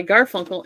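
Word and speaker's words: Garfunkel: says Mary check out the new album by gar funkle and gar funkle on Spotify notice I said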